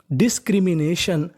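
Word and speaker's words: discrimination: डिस्क्रिमिनेशन।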